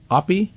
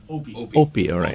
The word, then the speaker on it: Opie: Oppie? Opie. Okay, Opie right. We physicists always pronounce oppi because of a famous physicist Oppenheimer. Okay opey